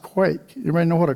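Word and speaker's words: quaich: In Scotland, these are called, it looks like quash, but it's pronounced quake. Everybody know what a quake is?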